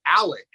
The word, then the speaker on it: Alex: um I also think even though it's spelled a-l-e-x I think he pronounces it Alec listen who is this